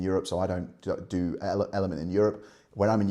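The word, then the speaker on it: LMNT: It's it stands for element, but it's spelled L M N T.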